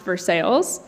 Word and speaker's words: Versailles: is a town in Kentucky spelled Versailles but pronounced Versailles for for allowing me to hide in